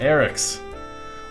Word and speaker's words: AryXZ: Ah, it's pronounced Eric's.